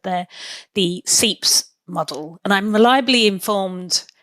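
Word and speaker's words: SEIPS: than anything else is how do you say seeps? Is it seeps? Yes. Pascal Coron is saying it seeps.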